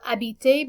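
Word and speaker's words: habite: studies in french and this verb abite begins with a silent h and because it begins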